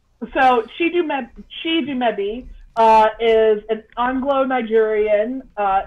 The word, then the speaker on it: Chidumebi: cannot let me know it's pronounced she do maybe she made it great